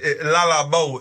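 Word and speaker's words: Le Labo: So, you said Lala Bo is how you say it.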